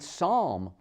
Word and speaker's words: psalm: in the middle cupboard with a p and psalm p-s-a-l-m consider the silent b climb comb crumb